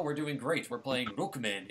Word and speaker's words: Rockman: Streaming Rookman X. And yes, I have to say it like that every time because that's how it's said in the Japanese commercials.